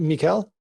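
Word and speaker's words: Mihkel: Americanizing it as Michael. It's not. Is it Mikel?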